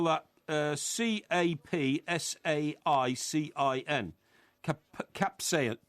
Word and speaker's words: capsaicin: you how do you spell that um you spell that uh c-a-p-s-a-i-c-i-n capsai capsaicin capsaicin captain adaptation that's what i said so